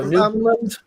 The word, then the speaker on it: Newfoundland: And Newfoundland rhymes with understand. So Newfoundland.